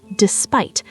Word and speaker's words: despite: And listen how I say it. Despite. The emphasis is on that second syllable.